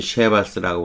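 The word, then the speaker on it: Chivas: 얘네들은 쉐바스라고 보통 많이 발음해요.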